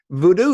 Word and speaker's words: Vodou: talk about my research people think that I mispronounced it because of my accent you know I come from France I probably don't know how to say it but it's actually not the case it is voodoo so there are two